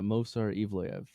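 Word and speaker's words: Movsar Evloev: Uh, Mosar Eivelv.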